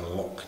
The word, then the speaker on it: loch: Perhaps the Scottish word for loch, as in the Loch Ness, they would pronounce it loch, as in there's a wee beastie in that there, Loch Ness.